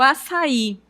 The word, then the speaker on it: açaí: Então observem que essa palavra também vai acontecer um iato, porque eu tenho o a, que é uma vogal, e o i, né, que também é tônico. Então, como nós temos duas vogais tônicas, o a vai ficar separado do I e o I será acentuado.